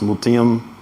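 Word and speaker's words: Mut'im: Mutium. Yes, it's not the easiest name to pronounce, but yes, Mutium.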